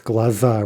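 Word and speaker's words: глаза: Okay, so glaz, glaza, right? Stressed a for that masculine noun.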